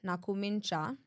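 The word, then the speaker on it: Nakhumicha: I have to say her name right, Nakumincha.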